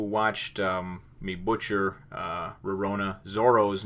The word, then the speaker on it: Zoro: not realize that uh in english the translation is not pronounced with an l that it's it's heavier on the r so it is more like zorro which i can certainly